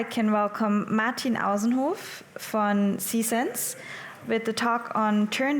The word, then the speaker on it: Sisense: First of all, it's actually pronounced Sisense, but I'll forgive you. You're not the first one doing that mistake, so don't worry about it.